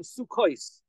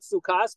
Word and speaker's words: sukkos: And the way it's pronounced, all three of them are plural because we pronounce them sukkos, not sukkas, but sukkos.